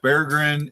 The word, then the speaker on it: Berggren: It's pronounced Berggren.